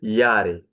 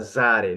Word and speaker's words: Jahre: Pay attention to the pronunciation here. Jahre. Look at how I read this word, okay? Jahre, not Zare, no, Jahre, okay? This letter in Dutch, in German language, when you read it like Y, okay?